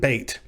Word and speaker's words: bet: the letters Aleph and Bet. If you pronounce bait quickly enough, it just comes out bet, and so you have Alef-Bet, the Alef-Bet.